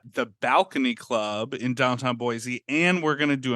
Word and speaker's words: Boise: So, um, you and I, you and I will be together in Boisey.